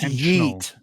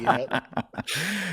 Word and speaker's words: yeet: I think, again, everything it's pronounced yeet, Matt. It's pronounced yeet. Not yet.